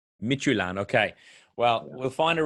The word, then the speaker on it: Midtjylland: It's known to be the club with a name no one can pronounce. So don't feel bad about that. It's called FC Midtjylland. Midtjylland, okay.